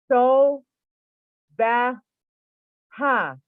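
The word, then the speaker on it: SOBHA: The third one, the Enochian word, now write this down, S-O-B-H-A, is pronounced in a 3 syllables as so ba ha. So baha.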